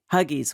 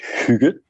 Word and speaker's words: hygge: But let's talk about the principles of hygge and huggies, whatever. What I'm saying. Please pronounce it appropriately so we all understand. So yeah, I've heard many variations, but in Denmark we pronounce it hygge.